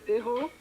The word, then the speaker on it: hero: Hero? A what? Hero. Hero. Oh. It's a huge sandwich. Yeah, it's also a French word. Hero. Yeah, but in English, we pronounce the H.